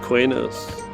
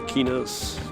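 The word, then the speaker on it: Qeynos: want to pronounce it i've always said cuenos but it's probably kinos a lot of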